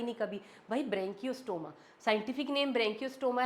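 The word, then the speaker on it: Branchiostoma: उसके बाद लास्ट आ जाता है हमारे पास एग्जांपल और एग्जांपल है यहां पे एक ही वो है ब्रेंकियो स्टोमा। ब्रेंकियो स्टोमा। बोलो इसको ब्रेंकियो स्टोमा। आपको प्रोनाउंस भी करना आना चाहिए कि ब्रेंकियोस्टोमा है यह।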